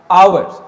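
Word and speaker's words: hours: Means ये लिखा हुआ पहला जो लेटर वो एच है जो कि कॉन्सोनेंट है, बट the sound of the first letter is O. Means H क्या है, ये साइलेंट है, इसलिए आपको ओ के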